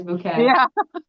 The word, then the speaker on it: Bucket: Never say bucket. It is always bouquet.